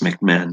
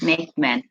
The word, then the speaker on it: McMahon: My last name is pronounced McMahon. McMahon.